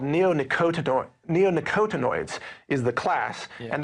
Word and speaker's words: neonicotinoid: that again well it's in a class called neonicotinoid neonicotinoids is the class and that's just one